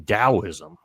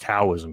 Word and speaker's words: Daoism: And I found one from Daoism, which is, you know, sometimes pronounced Taoism here because it starts with a T.